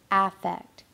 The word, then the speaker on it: affect: idea of aect so it looks like the word effect but it's pronounced in the world of psychology as affect and affect is defined